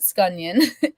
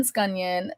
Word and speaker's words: Scunion: And that's how you pronounce it, Scunion. Onion Scunion.